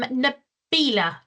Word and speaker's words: Naila: so much uh yes my name is Naila that's correct pronunciation and there's a quick